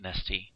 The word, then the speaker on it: NaahsTea: NaahsTea, how are you?